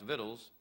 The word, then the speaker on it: victuals: Clampett had that ride it may look like victuals but it's actually pronounced vittles with you from the